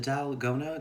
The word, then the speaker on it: 달고나: This is N, and then we have the same A as here, so it'd be pronounced the same, dal, go, na.